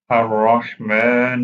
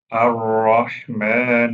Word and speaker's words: الرحمن: الرحمن الرحيم. Pronounce ha from the middle part of the throat. الرحمن الرحيم.